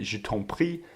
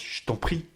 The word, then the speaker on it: je t'en prie: It's what's happening when je t'en prie is pronounced je t'en prie.